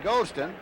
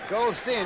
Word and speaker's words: Goldstein: His coach calls him Goldston and we were told that it is uh Goldstein just stretched out a little bit.